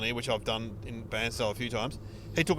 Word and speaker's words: Bairnsdale: So, I love the way you can't say Bansdale. Bansdale. What do I say? Bansale. You say Barnesdale. Oh, Barnesdale. It's Bansdale.